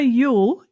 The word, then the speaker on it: Youell: This week, I've got the one for Ule. Am I pronouncing that right?